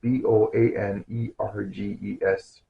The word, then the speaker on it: Boanerges: I need to learn how to pronounce this word. B O A N E R G E S.